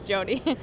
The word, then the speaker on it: Jody: okay so you're Mindy does her name rhyme with Mindy nope she's Jody Jody the d y